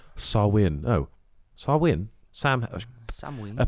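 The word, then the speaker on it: Samhain: ancient Celtic Festival of samhan a galic word pronounced sawin oh swin Sam Sam a pagan religious celebration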